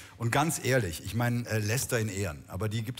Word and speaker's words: Leicester: Der Verein Leicester ist ja in den Händen eines... Jetzt hast du das richtig ausgesprochen. Ja. Danke. Der Verein Leicester ist in den Händen eines thailändischen Millionärs.